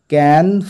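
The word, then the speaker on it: Cannes: ঠিক আছে কোথায় অ্যাট ক্যান ফিল্ম ফেস্টিভাল এর উচ্চারণটা ক্যান অথবা আমেরিকানরা ক্যান এরকম বলে থাকে ক্যান ফিল্ম ফেস্টিভাল বা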